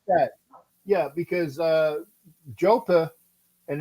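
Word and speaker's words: JoePa: that yeah because uh jopa and that's how to say his name correctly up in up in Pennsylvania is jopa jopa 409 Eddie romson 408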